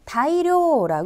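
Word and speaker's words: 大量: 여러분 은 ' 크다 ' 라는 뜻 의 한자가 ' 다이 ' 로 읽히고 ' 다 쿠텐 ' 이 붙는다는 것 을 잘 알고 계실 겁 니다 . 오른쪽 ? 하지만 보시 다시피 , 이 단어 를 읽을 때 는 ' 큰 ' 글자 에서 ' 다쿠텐 ' 이 생략 됩니다 . 그러니까 " 타이 " 라고 발음 해서 " 타이류 " 가 되는 거 니까 이것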